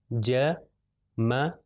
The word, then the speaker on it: جمع: پھر اگلی مثال ہے جیم میم اور عین، اور سب کے اوپر جو ہے فتحہ ہے، زبر ہے، تو اس کا تلفظ کیا ہو جائے گا جمع.